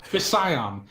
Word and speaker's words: Fission: Fishon, but Fission.